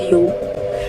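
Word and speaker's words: 踊り: Japanese dance, and then Buyo was coined in modern times as a general term for dance by combining Mai, which can also be pronounced Bu, and Odori, which also can be pronounced Yo.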